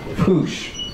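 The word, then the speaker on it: puxe: And the X in Portuguese is a sh sound. So it's pronounced push.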